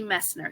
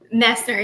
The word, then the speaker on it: Messner: Fiction and tonight we are here with Kelsey Mesner. Now Kelsey, I forgot to ask you about your last name. So did I say it right or did I botch it? Messer.